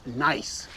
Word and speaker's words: gneiss: an ancient rock called gneiss, spelt with a G, and it was formed deep within the earth millions of years ago.